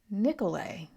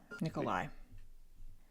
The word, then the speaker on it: Nikolai: And Andre is the model Soviet citizen whereas Nicolay is not Nikolai. Hold on. I got to find out how to pronounce this because my brain wants to do say both. This is Barack Obama. Nikolai.